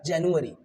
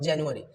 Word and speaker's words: January: जाता है, बट in English it is called जनवरी। The pronunciation is what जनवरी।